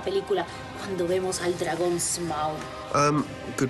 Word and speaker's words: Smaug: Secuencia más importante de la película cuando vemos al dragón Smaug. Good pronunciation.